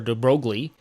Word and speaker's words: de Broglie: can pronounce in English he's typically called The Broiler de broglie it's a French name and it's actually pronounced but actually it's originally an Italian name which I believe in Italian will be pronounced something like de brolier either way he pronounced it delay and he tells us